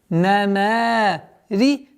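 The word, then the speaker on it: نمارق: نَمَارِقُ. рику. وَنَمَارِقُ. Мас. Вот обратите внимание, чтобы звук мим, чтобы не произносилось как масфу, нет, нужно до конца произносить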